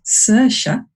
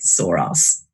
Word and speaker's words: Saoirse: name into the chat I have been reliably informed this is pronounced Saoirse authorship not so sure as I was prancing it also and when in actual fact she pronounced it sore us because she is a